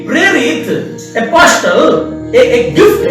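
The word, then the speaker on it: ἀποστέλλω: लिख लेना, ग्रीक जो भाषा है, इस ग्रीक भाषा में इसको एपोस्टेलो बोला था। एपोस्टेलो, इसका स्पेलिंग मैं बोल रहा हूं, APOSTELLO, एपोस्टेलो ग्रीक में।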